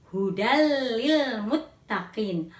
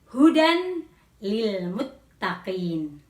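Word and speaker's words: هدى للمتقين: bertemu dengan huruf lam maka cara membacanya adalah tanwin lebur pada huruf lam atau dimasukkan kepada huruf lam membacanya menjadi hudallilmuttaqin bukan hujan lilmutaqin Hai ke-2 Indra Apa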